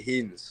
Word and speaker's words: Hinze: It's actually Hinze. You got to forget the Hinze. Hinze on the end.